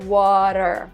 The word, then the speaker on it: water: And she said, not only do we pronounce the R in the end of the word, water, but we also pronounce R in the middle of the word, the T in the middle of the word. When we say water, we don't even say T, we say R, like water, water.